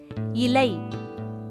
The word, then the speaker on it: இலை: இது தவறான உச்சரிப்பு. அடுத்து இலை.